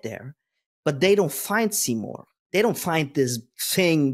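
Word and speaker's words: Simorgh: there is this um mythological being it's called seor seor is actually the spirit of intelligibility I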